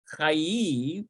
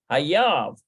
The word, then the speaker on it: חייב: Chayiv. Okay, chayiv. Take a look at that one. Chayiv. Yeah. I think it's chayiv. Yeah. המקרר חייב. Hayav. המקרר חייב. Never would have known that without the nikud.